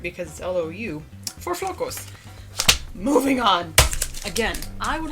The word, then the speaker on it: flocos: it for this yum the word is flocos which means flakes you'll need to know how to say it if you want to